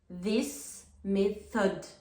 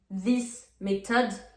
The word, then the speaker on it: method: This method. Donc, on fait pas le son t à méthode. This method incorrect.